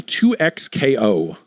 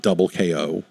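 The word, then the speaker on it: 2XKO: you played any any 2x KO?" I guess is that is the right way to pronounce it. It is not double KO, which would have been a more fun name.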